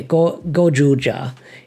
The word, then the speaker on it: Gozyuger: and then the uh this syllable here is always like the syllable for Ranger so uh G yeah go gja is how you pronounce it um so there's been